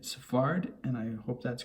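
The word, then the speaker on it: Sfard: pronouncing his name incorrectly it's f a it's uh s f a r d and i'm pronouncing it safarid and i hope that's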